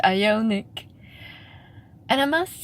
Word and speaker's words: Ioniq: eye eye eye Yannick I always pronounce it unique but I guess it's ionic and I must say